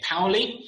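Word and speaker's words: Paoli: And then we've got, correct my pronunciation here, Powley. Correct.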